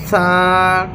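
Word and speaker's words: ثا: তা সা এই সা অক্ষরটিক আমাদেরকে এক আলিফ পরিমাণ টান দিয়ে এই সা অক্ষরটি মুখের যে অংশ থেকে বের হবে সে অংশটি হচ্ছে সা মানে হচ্ছে দুই দাঁতের মাঝামাঝি আমাদের জিহ্বাটা সামান্য পরিমাণ বের হয়ে থাকিবে আর এই সা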